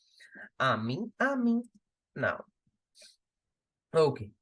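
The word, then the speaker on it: amie: friend you have to you put extra e afterwards but the pronunciation remains exactly the same Amy Amy now okay how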